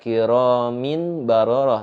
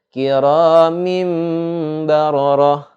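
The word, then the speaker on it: كِرَامٍ بَرَرَةٍ: Bacanya enggak kiramin bararah, tapi kiramim bararah. Itu ada dimasukkan seperti huruf mim dan juga ada dengungnya, disertai dengung.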